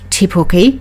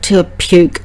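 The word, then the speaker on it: Te Puke: town's name means the hill and should be pronounced tipi not the occasional T puke that uh some of the uh International people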